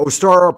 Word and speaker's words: Ostara: What is Ostara? Ostara, pronounced Ostara, spring equinox, celebrated March 20th.